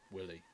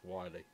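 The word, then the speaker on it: Wily: the evil desires of doctor willie i'm hoping that meant to pronounce wiley because i only got the one l epic sense oh it's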